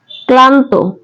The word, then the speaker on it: ক্লান্ত: ল ফলা আছে এবং ল ফলা উচ্চারিত হয়েছে কিন্তু ল ফলা উচ্চারণ কিন্তু দুইবার হয় নাই তারপর দেখো আছে ম্লান